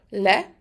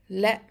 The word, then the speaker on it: le: Le has a short e, le, and it's pronounced like the le in lemon.